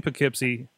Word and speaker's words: Poughkeepsie: lucha new lucha friends that guy is in poughkeepsie new york i said it right tonight that